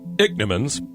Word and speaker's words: Ichneumon: actually a horrible thing dick Nimmons pronounced dick Nimmons smell that I CH n EU mo NS their master soup for family